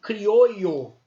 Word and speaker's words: criollo: Em espanhol, essa palavra se pronunciaria criollo, né? Criollo, e não crioulo, com L, né? O L não é pronunciado, o LL tem som de LH, criollos.